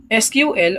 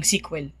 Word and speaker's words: SQL: So pwede siyang i-pronounce as SQL or pwede rin siyang tinatawag yung iba tinatawag siyang sequel kumbaga parang binasa mo lang.